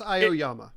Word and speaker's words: Aoyama: And even with Iommi, I can't pronounce his name, the dude, I think it's Aoyama.